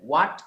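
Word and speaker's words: what: যে চারটা আছে চারটার মধ্যে হ এর কোন উচ্চারণ নেই এখানে কোন হয় না সব ও দিয়ে হবে বলেন হোয়াট কি হোয়েন কখন হোয়াট কি হোয়াট কি হোয়েন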